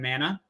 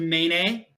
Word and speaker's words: mana: but he's talking about mana he says it's pronounced a main a um Hanna not pronounced mana or mana it's pronounced main a believe it or not his